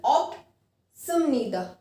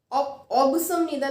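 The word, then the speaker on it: 없습니다: ऑप्ता का पहला देखते हैं, ऑप्सिमनीदा, ध्यान से सुनना मेरी प्रोनाउंसिएशन, ऑप्सिमनीदा, ऑब्सिमनीदा नहीं, ऑप्सिमनीदा, ऐसे ही सेम ऑप्सिमनिका, ठीक है।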